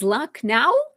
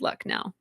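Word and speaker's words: Lucknow: It is spelled as luck now.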